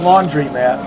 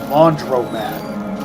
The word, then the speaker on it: laundromat: Not laundry mat. Laundromat. Ever since a ever since I was an 80s kid in the 80s. That's irked my brain. It's irksome. It's spelled laundry but everyone pronounces it laundry mat.